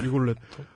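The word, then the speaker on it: Rigoletto: 오페라 레라도 얘기 나왔는데 예 그게 원래 발음이 리골 let 아니 리 리골레토 아 뭐 그게 뭐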